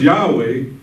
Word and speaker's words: Yahweh: How do we get it to make it pronounced? We know it's Yahweh.